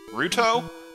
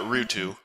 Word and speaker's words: Ruto: Ruto? I've always pronounced that Rutu. That's almost certainly wrong.